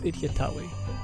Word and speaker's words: Itjtawy: am not a pharaoh I was saying it wrong it's idiotawi another thing they've added